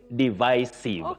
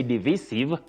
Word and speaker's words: divisive: Then you say divisive. But many people innocently say divisive when we don't have proper guidance. That is don't use divisive. You say divisive. Divisive. Divisive. Just like divide.